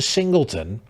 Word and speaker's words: Singleton: Ironically, his surname rhymes with simpleton. That stood out amongst the rest of the pack. His name is Stephen Singleton, and he writes, "I'm